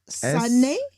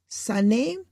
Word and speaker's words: Sanae: Her name is Sanae. Sanae Takaichi. I can pronounce the surname Takaichi, but the first name is Sanae.